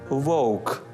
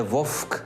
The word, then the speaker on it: вовк: мавпа сказав авторитет аураменко також треба вимовляти у нескладовий перед приголосним вок перед приголосним к управа перед приголосним п не вовк і не вправа До речі в білоруській